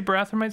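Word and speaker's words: Barathrumites: I will discuss this with the others the barathomites of Great Gate agreed to accept this lens did you say barathamites so that's how it's pronounced Great Gate is a that's where Q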